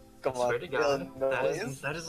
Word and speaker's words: Illinois: don't say Illinois, it's Illinois. It's Yeah. technically a French word. What if I French pronounced it Illinois? Illinois. That's still more acceptable than Illinois, Illinois? because the S is not said, it's silent.